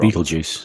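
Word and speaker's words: Betelgeuse: I've said it wrong Beetle Juice be juice is that how you spell it that's not how the movie spel is that beel juice that's how you pronounce that word how you pronounce it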